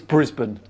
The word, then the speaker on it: Brisbane: Pronounce Brisbane. It's Brisbane, but that's fine.